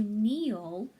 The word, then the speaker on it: kneel: just the in sound we have to write that letter K but the K is silent so we have our